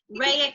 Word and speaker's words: Raya: So Raya, am I saying it right, Raya or Raya? It's Raya.